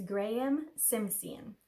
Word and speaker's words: Graeme Simpson: It is Graeme Simpson is how you say his name.